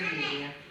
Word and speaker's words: media: Se escribe media, pero se dice media.